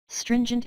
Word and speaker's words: stringent: stringent air가 아니고 이 T가 거의 발음이 안 들려요. Stringent air quality regulations.